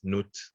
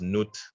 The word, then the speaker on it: Nut: So today, what we will do, we will just have an open discussion about the goddess Nut, known as Nut, spelled N-U-T, pronounced N-O-O-T, the ancient African goddess.